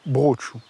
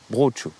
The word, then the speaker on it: Brocciu: Alors un petit cours peut-être? Brucciu. Brucciu. Brucciu. On avale la dernière syllabe.